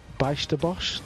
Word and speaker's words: Bijsterbosch: between poland's fortuneski and holland's baisterbosch did i say that right niels how are you getting there i'm getting there you said correctly you say it correctly buy stubbles i'll settle